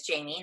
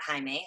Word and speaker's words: Jamie: And it is spelled, my name is Jamie, not Jaime. A lot of people get it confused as Jaime.